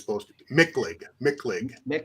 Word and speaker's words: Michlig: Michlig. Michlig? Hit it hard. Michlig. Michlig. I don't know why they spelled it that way, but that's the way they did it. Michlig.